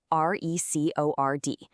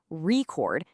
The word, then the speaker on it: record: If you put the stress on the first part, record, it's a noun, like a vinyl record. But if you shift the stress to the second part, record, it becomes a verb, like to record a video.